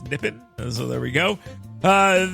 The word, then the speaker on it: Nippon: I say Nipon, but I've been told it's Nippon.